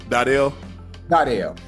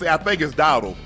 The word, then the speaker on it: Dowdle: How you say it the right way, Dardell. Hey, people say Dardell, but I think it's Dowdle.